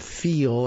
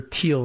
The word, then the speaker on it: Thiel: Inside the powerful Peter Thiel, I guess, I've heard someone pronounce it this way instead of Thiel, as I do with the TH.